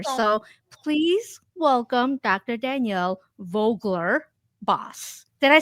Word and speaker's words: Vogler-Bos: so it's how do I say it V Vogler boss so you're a Vogue boss basically I am